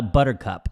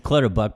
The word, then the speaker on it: Clutterbuck: It's Kyle Buttercup. I didn't know how to pronounce his name, Clutterbuck. It's Clutterbuck, but you called him Buttercup.